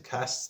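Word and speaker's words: Castres: I thought it was pronounc Castra.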